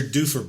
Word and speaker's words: Doofer: tell me about your dufer book oh my god how do you spell that book it's d-o-o-f-e-r oh that's how you spell it dude right as in that due for i might call your